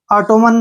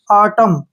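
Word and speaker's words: autumn: टी यू एम एन इसको हमने टोमन नहीं पढ़ना है इसको पढ़ेंगे हम आटम क्या पढ़ेंगे आटम एय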